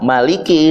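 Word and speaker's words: مَالِكِ: Maka ulama bersepakat bahwa maliki ini pepakai alif. Jadi dibacanya panjang ya.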